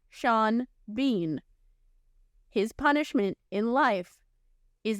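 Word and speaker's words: Sean Bean: show REM makes for his name not rhyming as it should his first name is spelled s a an and his last name is spelled b e a an and it's pronounced Shan Bean his punishment in life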